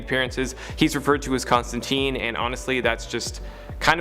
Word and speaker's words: Constantine: i know in the original source material it's pronounced constantine but in all of his live-action appearances and animated appearances he's referred to as constantine and honestly that's just kind of the preferred